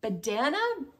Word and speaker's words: Badana: This is the Badana, B-A-D-A-N-A hat from Retrosaria Rosa Pomar.